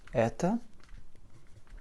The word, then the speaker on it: это: Alors, kto это, que tu sais désormais écrire, kto это, comme ceci, donc avec un accent très prononcé sur le e, et donc notre o se réduit en a.